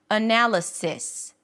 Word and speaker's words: analysis: So, you might hear that analysis, twowas. But you can or should pronounce it with a relaxed sound. Analysis.